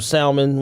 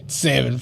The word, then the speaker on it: salmon: shrimp, some salmon, whatever like that. Cool. Please don't pronounce that L ever again. Salmon, please.